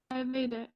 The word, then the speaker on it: Ayurvedic: Ayurvedic.